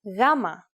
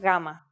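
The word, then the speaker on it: γάμμα: It is the consonant gamma, which makes a g sound and might be a little difficult for English speakers since it doesn't have an exact English equivalent.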